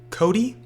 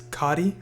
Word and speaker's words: Cotti: name to because everybody pronounces my name wrong um everyone pronounces it Cody when it's not it's cotti uh it's it's a